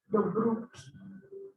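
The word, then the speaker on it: Delbrück: Delbruck, um médico alemão, Delbruck, assim pronuncia.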